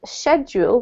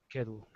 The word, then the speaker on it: schedule: I just want to point out that there are actually two pronunciations for this. Yeah, did you know that? Schedule. Yeah, so you can say schedule or schedule, up to you, okay?